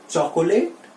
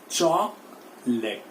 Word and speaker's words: chocolate: So normally we people use टू से इट एज चॉकोलेट या चॉकलेट। This is the pronunciation that we से। हम इसको चॉकलेट या चॉकोलेट इस तरह बोलते हैं, but the right pronunciation for this word is chocolate।